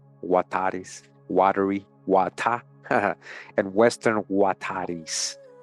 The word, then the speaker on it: Huetar: You see that pronounced as Wa, Huatares, Watery, Wata, and Western Huatares, Wata, Huatar, Huatar.